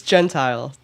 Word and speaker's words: Gentile: Uh yeah, it's it's Gentile and now we have cleared that up.